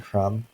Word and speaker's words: crumb: We don't really say the B in crumb, but if we have another syllable on there, it can become something like crumble.